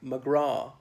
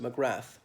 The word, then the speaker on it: McGrath: likewise in the name McGraw with a th on the end it should be silent okay but I know in the Unites States people often pronounced it McGrath there was a famous